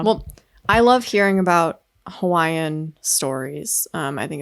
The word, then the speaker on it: Hawaiian: Hawaii do you say havaian like how do you say I don't know why we don't say Hawaiian but it's it's I've never heard anyone say havaian it's Hawaiian yeah just Hawaiian I don't know well